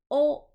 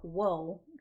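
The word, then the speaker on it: を: O, or wo, technically. It is spelled with a W, but it is not pronounced wo.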